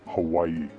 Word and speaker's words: Hawaii: This was my first trip to Hawaii, pronounced Hawaii, and I was particularly excited about one of our planned excursions, swimming with dolphins.